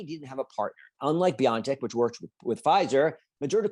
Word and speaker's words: BioNTech: BioNTech, that's how you pronounce it? There are different ways of pronouncing it. Even internally, they pronounce it differently. But yes, that's why I pronounce it BioNTech.